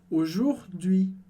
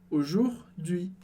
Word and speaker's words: aujourd'hui: E aí a última palavra muito importante em francês, que é a palavra aujourd'hui. Aujourd'hui. E aujourd'hui parece um palavrão, uma palavra bem longa, mas foca na pronúncia que é super simples.